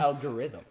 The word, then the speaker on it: algorithm: know but the algorithm the stress is on the algorithm algorithm it's on the L not like if if